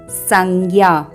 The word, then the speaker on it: संज्ञा: तो यहाँ पर हलंत ज पहला व्यंजन है और हलंत ज च वर्ग का व्यंजन है। तो इसमें पंचमाक्षर होगा हलंत य और इसका उच्चारण भी उसी अनुरूप होगा। तो यह होगा संज्ञा।